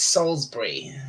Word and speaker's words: Salisbury: Yeah, it's pronounced Salisbury.